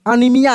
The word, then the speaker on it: anaemia: जैसे LG है, जैसे बताए हम LG है, ठीक ना, एरियल है, अनीमिया है, बीमारी का जिसका नाम है ANAEMIA होता है, ठीक ना, अनीमिया है।